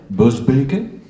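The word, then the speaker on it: Busbecq: Les lettres turques, Epistulae Turcicae, en latin donc, d'Auger Ghiselin de Boesbeek, Boesbeek, dit-on chez nous, ça c'est la prononciation exacte, tiennent une place particulière dans cette production, surtout en raison de l'identité de leur auteur.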